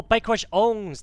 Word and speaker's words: Bikerushownz: we're going to watch bike rush SS oh bike rush owns that's how you say his name okay bike